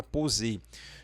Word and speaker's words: poser: E aí você vai falar o O mais fechado, o O do vovô aqui nessa palavra poser.